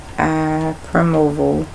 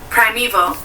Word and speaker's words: primeval: You know, evil is spelled E-I-L, but it's V-A-L. Eval. Me, Val. Yeah. Primeval. Prime. And the way they got it separated, P-R-I, then the little dot, then me, me, Val. V-A-L.